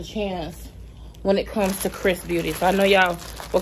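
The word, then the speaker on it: XRS Beauty: doesn't stand a chance when it comes to chris beauty so i know y'all were kind of wondering chris is xrs but it's pronounced chris beauty okay so this is actually our third time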